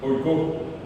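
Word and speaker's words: oiko: Acá tienen ustedes oikó, acá dice oikó. Acá el acento está en la O.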